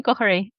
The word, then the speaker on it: Goher: Gohery. Gohery. Gohery. You have to sound Irish to say it.